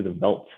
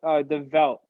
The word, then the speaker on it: The Veldt: So we're going to be listening to the Veldt by Deadmau5.